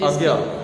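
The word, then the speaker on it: अज्ञेय: अज्ञे visual art platform के नाम से। अज्ञा? हाँ, अज्ञे, ओके, पूरा ओके।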